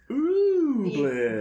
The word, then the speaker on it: Ooblets: ooh, 'cause- Ooblet.